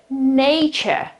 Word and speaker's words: nature: So nature, nature, nature. That's the right pronunciation.